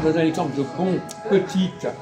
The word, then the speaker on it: petit: Vous savez, le français, je donne un exemple de bon, petite. On ne prononce pas le T de petit, pourquoi?